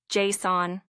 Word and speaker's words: JSON: The first part is loud J. And the second part is softer son. Can you hear the difference? It's not sun like the sun in the sky. It's son JSON.